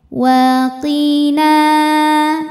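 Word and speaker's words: وقنا: ke posisi biasa wa waqi qnya tebal Q Q gak ada anginnya ya waqina Nah n Ayun lagi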